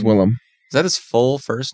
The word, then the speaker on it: Willem: It's Willem.